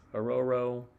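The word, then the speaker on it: Orhorhoro: But Ororo, he said not to pronounce the H's.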